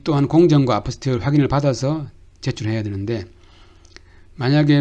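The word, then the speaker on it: apostille: 아포스티오는 영어로는 apostle 이렇게 발음이 되는 것 같은데 이게 이제 프랑스어이기 때문에 아포스티오 이렇게 발음이 됩니다.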